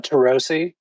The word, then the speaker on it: Turoczy: pronounce your surname uh tarosi oh see okay yeah it's not it's not how the hungarians pronounce it i totally mispronounce it but that's that's how we pronounce it in the u.s oh so it's like